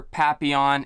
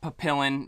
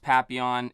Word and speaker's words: papillon: for the other flavor papillon it's not papillion even though that's how it's spelled uh it is pronounced papillon if you search on